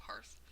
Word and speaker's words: hearth: know when she says hearth instead of hearth. And the first few times she said it to rhyme with earth instead of like cricket on the hearth and the hearth of a fireplace, it really threw me off.